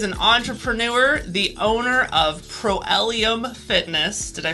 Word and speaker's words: Proelium: ellis he is an entrepreneur the owner of pro-ellium fitness did i pronounce it correctly that's correct he's also